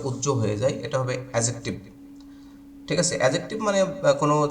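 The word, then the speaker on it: adjective: অ্যাডজেক্টিভ আমরা অনেকে এটাকে অ্যাডজেক্টিভ বলি। তো একটা জিনিস মাথায় রাখতে হবে যে ডি এর পরে জে, জি এগুলো যদি আসে তাহলে ডি এর উচ্চারণটা উজ্জ্ব হয়ে যায়, এটা হবে অ্যাজেক্টিভ।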